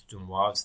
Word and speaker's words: de Moivre: A lot of people pronounce de Moivre's theorem in some very strange ways. Okay, it's not Moivre's theorem. That's awful. Don't say that. All right, it's de Moivre's theorem, and you need